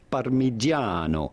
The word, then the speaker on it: Parmigiano: Parmigiano. Parmigiano. Parmigiano. Parmigiano. Reggiano. You do want to stress on the second to last syllable, on the second A, Parmigiano.